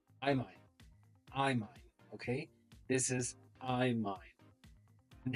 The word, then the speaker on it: imine: me your guess how do you think is pronounced imine imine okay this is imine and how do you read this structure from